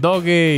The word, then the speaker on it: Doogee: Según yo se pronuncia Dougie, pero he escuchado que le dicen Doge y de mil otras formas, pero bueno, según yo se pronuncia Dougie.